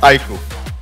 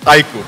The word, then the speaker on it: iQOO: The pronunciation is IQ. I emphasize again, it's IQ.